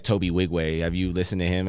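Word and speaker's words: Nwigwe: all oh yeah yeah I didn't know that's how you said I always was like the N is silent yeah silent because he's African but yeah Toby wig way he's fucking super dope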